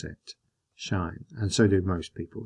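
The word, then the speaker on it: sinh: so i pronounce it shine and so do most people to be honest so even though it's got the h at the end we pretend it's at the front and we call it shine and again this is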